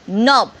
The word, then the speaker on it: knob: C, knob. Silent letter is K.